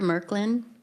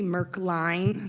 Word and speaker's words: Merkline: It's actually Merkline.